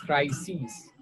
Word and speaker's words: crises: Crisis, crises.